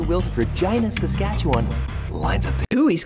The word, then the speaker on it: Regina: Wills, Regina, Saskatchewan. Lines up. Ooh, he's Canadian. Sweet. Good. That's why Regina rhymes with fun.